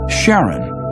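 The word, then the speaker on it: Charon: Christy suggested the name Karen after the ferryman of Pluto's underworld in Greek mythology but preferred to pronounce it Sharon more like his wife's name Charlene from the Motions of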